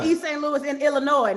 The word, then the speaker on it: Illinois: Illinois, no S. The S is silent. Yeah. St. Louis this is. Illinois.